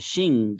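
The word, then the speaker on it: Qin: we call a dynasty the sentence here says the shin dynasty that's how it's pronounced it's the name of a chinese dynasty the shin dynasty is the latest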